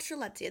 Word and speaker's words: Strelitzia: and fixed it so we were talking about strelitzia this is true let's say now to prove